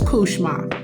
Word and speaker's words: cauchemar: now let's be clear it is a French word and it's pronounced Kar which means nightmare but by the time it get to Black vernacular it's kushma but even with the